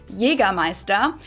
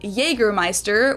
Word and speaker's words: Jägermeister: From shoes to alcohol, this is pronounced yeaest in German. Jeramea. English speakers usually say Jägermeister, which is pretty much the same just with a pretty thick accent.